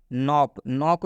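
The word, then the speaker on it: knock: Last नॉक का मतलब होता है दस्तक। नॉक में आप देख सकते हैं के आया हुआ है और के बाद से एन आएगा, जब भी के बाद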